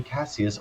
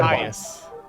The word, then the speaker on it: Caius: Caius Is it Cassius? Is pronounced Cassius? Caius? I don't know. It's not actually said. I had to look it up. Or if it said, it said Caius.